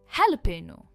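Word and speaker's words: jalapeño: हेलोपेनो। इसे कहते हैं हेलोपेनो। भले ही ये जे से स्टार्ट होता है पर ये हैलोपेनो।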